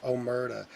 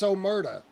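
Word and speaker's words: Omurda: Omera. That's how you know he's not Italian. He can't even say Omera. He can't say it. It's Omrada. Like, it's spelled O M U R D A.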